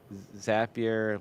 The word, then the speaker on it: Zapier: to the paywell um zapier like happier all right thank you